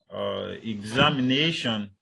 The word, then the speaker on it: examination: All right, you have a word like the one we have here, examination. So if you look at it properly, the primary stress is on A, whereas the secondary stress is on exam.